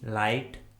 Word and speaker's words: light: Rule number 2 में हम सीखेंगे यदि किसी इंग्लिश वर्ड में आई के बाद जी एच आता है तो उस वर्ड में जी एच कम्प्लीटली साइलेंट होता है, यानी जी एच का किसी प्रकार से कोई भी उच्चारण नहीं किया जाता है।